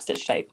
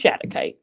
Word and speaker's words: shattuckite: I'm sorry, that's not stitchite. This is shattuckite.